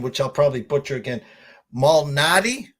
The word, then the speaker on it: Malnati: Well, I talked backstage and I asked you the pronunciation, which I'll probably butcher again. Malnati, correct?